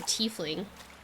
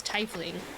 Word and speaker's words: tiefling: Freya and I think she's a tiefling but he says tightly which is wrong yes there's no wrong